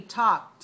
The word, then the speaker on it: talked: Okay, in this word talked, there are 2 silent letters. Do you know which 2 silent letters?